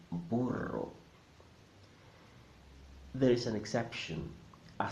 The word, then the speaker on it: burro: Rosa a sing drink'll when you see a double are in the middle of the word always sounds there as in burro there is an exception